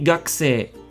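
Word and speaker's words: 学生: Whereas a student would be gakusei, gakusei, gakusei. Now, you may be able to notice that both sensei and gakusei end with the same sound, so it ends with se.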